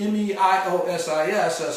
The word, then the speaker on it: meiosis: And meiosis, M-E-I-O-S-I-S, sometimes often pronounced even more correctly as meiosis, okay?